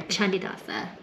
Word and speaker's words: Candidasa: It's kind of like has a hard rock font, but it says Candidasa Beach. C's in Bahasa are pronounced with a ch, like Canggu or Candidasa.